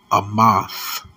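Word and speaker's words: אמת: word truth in the Hebrew is pronounced is pronounced a moth so numbers don't lie the New Orleans prophecy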